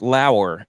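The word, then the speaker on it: Lower: come up with but it's pronounced Lauer and he was on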